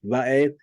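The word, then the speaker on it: וְאֵת: So this is pronounced va'eth, and next direct object is haaretz.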